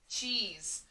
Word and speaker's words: cheese: But the way that cheese is actually spelled, with a silent E at the end.